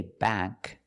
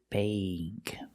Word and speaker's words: bank: So again, words with a k and a g use the long a sound like plate and date. Example, bank. We don't say bank.